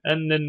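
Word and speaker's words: أنّ: Ennen neticete, netice onun ismi, hasene onun haberi. Ama niye inne değil de enne? Çünkü meçhul fiilden sonra inne değil de enne diye okunur yani.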